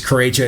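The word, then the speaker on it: Corretja: And it's Crocha. It's spelled C O R R E T J A.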